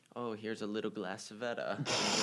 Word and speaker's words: civetta: So like we would see like, oh, here's a little glass Savetta. And we'd be like, yay, that's me. Except they pronounce it Civetta.